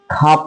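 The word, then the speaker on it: خواب: लेकिन ये जुमला गलत हो जाएगा अगर हम ख्वाब कहेंगे। तो हम लोग इसको क्या पढ़ते हैं, खाब पढ़ते हैं। या वाव क्या रहता है, साइलेंट रहता है।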